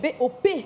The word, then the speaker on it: Bop: Parce que Bob. c'est pas B-O-B, c'est B-O-P.